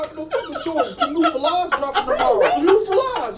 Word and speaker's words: Fila: You don't know about Fila's? What the fuck, you mean Fila? Some Fila's are dropping? Fucking Fila's. That's not how you say it, bitch. It's Fila's.